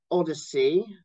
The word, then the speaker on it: OHDSI: And OMOP is now run by Odyssey. It's another slightly annoying acronym in that they pronounce it Odyssey rather than OHDSI.